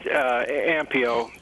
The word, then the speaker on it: Ampio: amp amp EO Pharmaceuticals is that Chris at the correct pronunciation that was right it that's correct ampio and you know it's